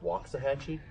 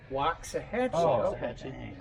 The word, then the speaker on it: Waxahachie: he's the real dog i've always heard it pronounced waxahachie walks a hedgehog but if you try to tell your phone walks the hatchy it won't even spell it my gps says waxahachie